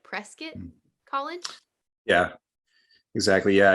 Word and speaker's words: Prescott: It's pronounced, you said like biscuit, so like Prescott Mm. College. Yeah, exactly. Yeah, it's so Prescott. Yeah, Okay. exactly. I pronounced it Prescott the first time I